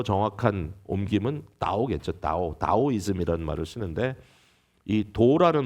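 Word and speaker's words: 道: 그대로 옮겨 옮겨왔는데 루이스가요 말을 쓸 때는 중국어 발음으로 나오 이렇게 그대로 옮겼어요 옮겼어요 타오 타지만 보통 영어로는 하기도하고 하기도 하는데 어 아마 좀 더 정확한 김은 오겠죠 다오 다오 이즘이 말을 쓰는데이 도라는 말은 어 그냥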